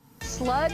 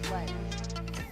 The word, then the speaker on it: Sledgehammer: Sludge or sledge? I'm trolling. It's Sledge. Okay, I didn't want to get yelled at because I said it wrong.